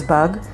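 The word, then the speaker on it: באג: And if you want to say bug, referring to computer's bug, it is the same word in Hebrew, bug, and it is spelled with Bet, Aleph, and Gimel.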